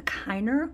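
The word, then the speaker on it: Kiener: These are, I believe it's called a Kiner whelk, which is a subspecies of the knobdwelk.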